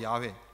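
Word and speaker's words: Yahweh: 하나님이 바로 여호와 들어보셨을 겁니다 여호와 야외 저 야외 원래 이름은 이제 원래 발음은 야외로 그렇게 됩니다 이름이 갖는 의미는 여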